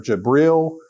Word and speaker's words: Jibril: So the angel Gabriel, or Jibril, as the Arabic pronunciation of his name comes and tells Muhammad to read.